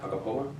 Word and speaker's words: Agapova: Did I say it right? Agapova? Mm-hmm.